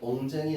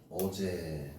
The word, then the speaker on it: 어제: 그 뒤에도 엉쟁이 아니라 어제. 어제는 어쩌자가 임금이란 뜻이고요.